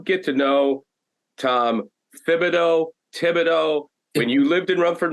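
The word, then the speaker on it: Thibodeau: to know Tom Fido Tibido when you lived in Rumford Maine there were 100 tibidos that's how you pronounced it when I came down everybody kept saying thogo what are you talking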